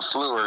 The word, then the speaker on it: Fluhrer: Is it Fluhrer or Fluhrer or what? Well, Fluhrer is good. Fluhrer, okay. The Mel Erickson pronunciation, not the Dana Carvey pronunciation, or what?